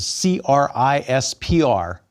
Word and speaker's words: CRISPR: everybody abbreviates that to c-r-i-s-p-r pronounced crispr like the veggie compartment in your fridge and crisper and its cousins are